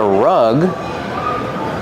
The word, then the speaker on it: rug: Rug has a short uh sound like cup and up. This is a rug.